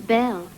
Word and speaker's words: Knell: looking for you can stop looking my name's belle it rhymes nail bell we don't know each other